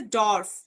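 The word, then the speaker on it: Dorf: ডে থেকে আসছে ডর্ফ, ডর্ফ, দেখেন ডর্ফ, ডে উচ্চারণটা ডে, ও একসাথে হয়ে ড।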